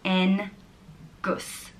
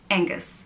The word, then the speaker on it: Oengus: And it's pronounced Oengus. Oengus. It can be spelled with an O or an A. E-N-G-U-S. Oengus. And I think a lot of people know the name, the English version, Angus.